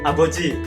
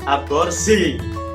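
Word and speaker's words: 아버지: Aboji, jangan salah sebut aborsi.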